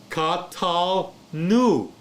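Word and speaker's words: קָטַלְנוּ: Katal nu. Katal nu. Why? Because the shewa is silent. It's preceded by a short vowel, the patak.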